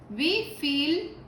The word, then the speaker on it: wie viel: Dice, wie viel kostet das? Siempre tomando en cuenta esto. Cuando tenemos la IE, recordamos que la pronunciamos como I. Es como si la E no estuviera.